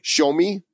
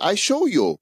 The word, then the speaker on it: Xiaomi: How do you pronounce this? Xiaomi's? Xiaomi. It's a Chinese. I think it's Xiaomi. Xiaomi? Xiaomi. Xiaomi, I show you.